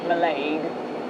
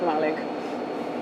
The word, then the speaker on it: Mallaig: the past five hours calling it malay but it's actually just malig although i've been told